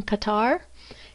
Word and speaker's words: Qatar: Qatar, or in American pronunciation Qatar, is another oil-rich country.